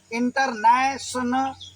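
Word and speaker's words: international: कहीं वैसा लिखा हो तो इसको ऐसे ही पढ़ेंगे, इन टर, फिर नेशनल, ठीक है, NA, नै। और TION को मैंने बोला था सन पढ़ेंगे। इंटरनेशनल, आगे AL लिखा है, अल बोल देंगे, इंटरनेशनल।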